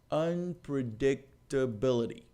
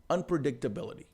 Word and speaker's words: unpredictability: que é o termo unpredictability então para você novamente se você fizer aquela jornada que você vai descobrir que tem vários pontos de tonicidade nessa palavra unpredictability unpredictability eu diria para você que